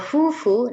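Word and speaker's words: 夫婦: Kalau fufu, nah kanji ini kanji suami digabung dengan kanji ini istri ya minasang. Nanti kita pelajari. Bacanya fufu panjang ya, fufu.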